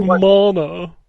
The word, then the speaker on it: Mana: It's pronounced Mana.